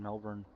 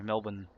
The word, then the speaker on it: Melbourne: switches right there in Melbourne sorry Melbourne that's the way it's pronounced yeah I thought so